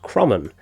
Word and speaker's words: Kromon: the Creed of the Kromon, which is actually pronounced Kromon, which doesn't sit right with me at all.